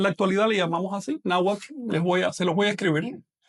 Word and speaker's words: náhuatl: Hay una diferencia sutil, pero importante de pronunciación. Así que recuerden, esta W no es vocálica, es consonántica, es una consonante. Mientras que esta forma de escribir, pues es vocálica porque la H no pronuncia. Así que ahí dice náhuatl.